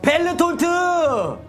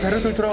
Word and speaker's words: 베르톨트: 벨르톨트! 그냥 베르톨트라고 하셔도 됩니다. 아, 베르톨트. 제가 너무 센 발음을 했네요. 네, 된 소리가 돼서.